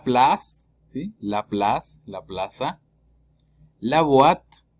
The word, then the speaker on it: boîte: La boîte, O con I forma UA. ¿Sí? La O con I se pronuncia UA. Y la E al final es muda.